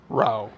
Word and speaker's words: Rao's: a store-bought sauce by Rao's Rao's or as art pronounces it roe is fantastic this model